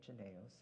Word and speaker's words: Jynneos: So in New York City, so the dosing interval for the vaccine, I pronounce it Jynneos, is 4 weeks, right?